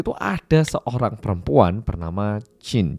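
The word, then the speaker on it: Qi: ada seorang perempuan bernama jin jadi tulisannya itu memang q i Tapi bacanya Jin Ibu Jin dia itu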